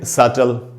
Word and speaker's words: subtle: तो यहाँ पर भी टी के पहले बी है तो यहाँ पर भी बी साइलेंट होगा, तो इसको हम पढ़ेंगे सटल।